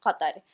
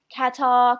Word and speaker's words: Qatar: know about life in cut that if you want to pronounce the country's name differently that's fine Qatar Qatar Qatar whatever you prefer to say you understand